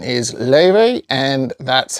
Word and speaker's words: Laufey: the name is ly which I believe is uh Icelandic I think she's a